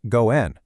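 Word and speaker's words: 五円: Well, 5 yen in Japanese is pronounced go-en, which also happens to mean creating a good relationship or connection.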